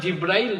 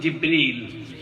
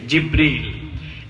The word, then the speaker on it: জিব্রিল: আসলে জিব্রাইল না, শব্দটার সঠিক উচ্চারণ হচ্ছে জিব্রিল। সঠিক উচ্চারণ কি? জিব্রিল।